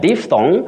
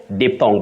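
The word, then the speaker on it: diphthong: realize you have I so the glide on those two vowel sounds is called a d thong but can also be called de thong that is in phonetics Betty okay that there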